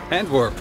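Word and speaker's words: Antwerpen: it how do you how would you like to pronounce i don't know i don't know handwork yes that's how we say it in dutch we're here and we're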